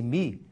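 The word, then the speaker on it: μ: igual traço de fração tá vendo mi é uma letra grega pronuncia-se mi vezes I este I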